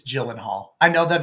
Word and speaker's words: Gyllenhaal: I just realized I mispronounced that. It It's It's Gyllenhaal. I know that it's Gyllenhaal.